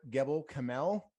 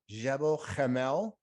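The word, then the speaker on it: Gebel Kamil: cube yeah if you want to call it gabo kamel you can if you want to call it jebel jamel that is the correct pronunciation i've seen it spelled differently too yeah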